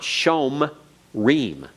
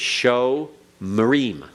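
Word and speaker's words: שֹׁמְרִים: is vocal it's vocal so it's show Marine okay show Marine it's not shome Reem it's show marim everyone say it show Marine remember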